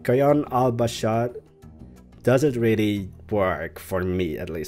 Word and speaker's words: Kayan Al-Bashar: I'm very excited about Kayan Al-Bashar, which I probably am mispronouncing it. Like, I have the tendency, or like I want to roll the R in Bashar, and doing that subconsciously, so I probably shouldn't roll that R, but it just sounds